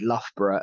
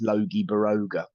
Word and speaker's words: Loughborough: But my favourite is how people would read Loughborough as Logie Baroga. Oh. Yeah, Loughborough is Logie Baroga because that's how it's spelled.